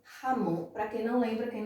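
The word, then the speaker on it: jamón: Terceira palavra, Ramon, o J sempre tem som de R, Ramon, para quem não lembra, quem não sabe, Ramon em espanhol é presunto.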